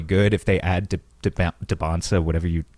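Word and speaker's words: Dybantsa: If they add to Debonsa, whatever you How do you pronounce his name? I think that's right. Debonsa.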